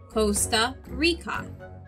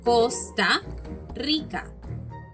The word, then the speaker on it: Costa Rica: similar but we hear it in english as costa rica but in spanish it should sound like costa rica costa rica in english we hear this